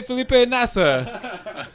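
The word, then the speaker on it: Felipe Nasr: who retired, and there's a young guy called Felipe Nazer, but when when the British commentators always say it, they're like, "Filipe Masa, please say Felipe Nasser." You know how they pronounce as R as in a masa and nasr.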